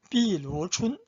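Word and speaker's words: 碧螺春: 비루춘. 한자 발음은 병나춘인데, 비루춘은 수조, 항저우 옆에 수조 있죠.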